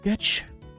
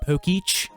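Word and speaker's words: Pokétch: Have you not obtained the Poketch? Technically, wouldn't that be pronounced like Pokeech? Because the E still has the accent on it? Am I wrong? I'm pretty sure I'm right.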